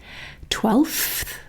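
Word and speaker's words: twelfth: If we say it very accurately, we'll include the F sound in front of the TH sound here. 12th. But realistically, to make it easier, what I would normally say is I would normally get rid of that F sound and just go straight from the L to the TH.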